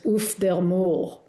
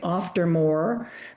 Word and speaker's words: Auf der Maur: So I had sort of turned into an international German pronunciation, Auf der Maur, but in fact, Swiss German, it's Auf der Maur.